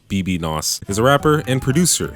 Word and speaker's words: bbno$: baby no money ah photos pronounced BB knows his a rapper and